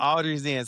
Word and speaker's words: Audrey's Den: which while she's on the show today, she has this wonderful creation called the Audrey's Den. Did I pronounce that correctly? Yep, I The understand. Audrey's Den.